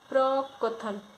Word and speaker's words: प्रकथन: फिर 185 में प्रकथन पूछा है, तो जो इसका शुद्ध उच्चारण होता प्रकथन, प्रकथन, यानी का जो है का जो है